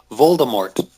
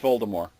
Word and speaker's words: Voldemort: Voldemort. Yeah, that's wrong. Why? How do you say it? You don't pronounce the T. Oh, Voldemort. It's just Voldemort.